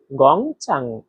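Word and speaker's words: 工厂: এখানে দেখেন গং। এখানে চাইনিজের এক নাম্বার টন ব্যবহার করা হয়েছে। আর এক নাম্বার টন উচ্চারণ নিয়ম হচ্ছে সোজা লম্বাভাবে বলতে হয়। তারপরে দেখেন চাং। চাং এখানে চাইনিজের তিন নাম্বার টোন ব্যবহার করা হয়েছে। আর তিন নাম্বার টোন উচ্চারণ নিয়ম হচ্ছে উপর থেকে নিচে আবার নিচ থেকে উপরে।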